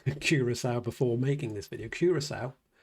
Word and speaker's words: Curaçao: I looked up how to pronounce Curaçao before making this video.